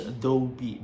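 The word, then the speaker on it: 더비: Or Dobi, pronounced in Korean as Dobi.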